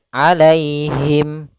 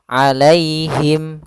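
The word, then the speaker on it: عَلَيْهِمْ: Alai itu ada ya sukun didahului dengan fathah, maka di sini kita namakan dengan bacaan lin, yaitu cara membacanya dengan bacaan yang lembut, alaihim, alaihim.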